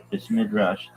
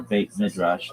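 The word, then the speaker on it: בית מדרש: Base midrash, base midrash, often pronounced base midrash in Yiddish or beit midrash in modern Hebrew, is a Hebrew term that means house of study.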